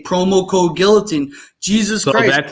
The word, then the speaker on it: guillotine: package, say promo code guillotine. Jesus So Christ. that's how I know you're from the Ontario province and not the Quebec province, because it's pronounced guillotine, not guillotine.